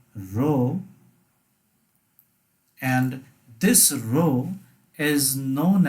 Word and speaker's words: rho: is a greek letter it's called row r h or rho that is the pronunciation of this greek letter let me just write down the pronunciation it is called row and this row is